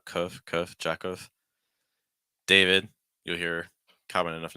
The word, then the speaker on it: David: David. You'll hear common enough name in the U.S. A, followed by a short I sound.